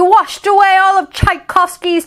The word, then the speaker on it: Tchaikovsky: shhhh the charging tsunami washed away all of tchaikovsky's tchotchkes not all of tchaikovsky's choc cheese tchaikovsky